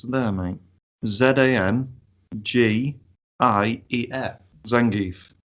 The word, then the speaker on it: Zangief: I'll get the name up and I'll try and pronounce it. It's there, mate. Zangief.